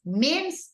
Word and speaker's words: memes: slide with the memes memes is the pronunciation in English Okay mes Spanish mes English okay now you okay let